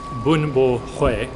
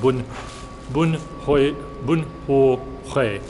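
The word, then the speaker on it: bún bò Huế: I say bun bo hue, which is the whitest version you can possibly say of pronouncing that. He said it more like bun ho hue, but I'm not even gonna attempt to pronounce that properly.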